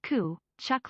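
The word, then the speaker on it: Tkachuk: the text to speech says my name right kachuk it's pronounced coo chuck lol it's a hockey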